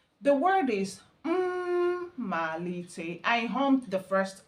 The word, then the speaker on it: mma: So, it has double M. The first M there is a pseudo vowel. So, for you to really get the pronunciation, you will h the first one. Mal. So four syllables.